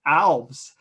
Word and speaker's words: Alves: I thought I had come up with the best way to explain how to say my name by saying it rhymes with valves.